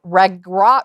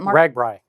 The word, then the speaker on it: RAGBRAI: iowa border to border regrot ragra how do you say that ragbrai you say it yeah there we go okay ride among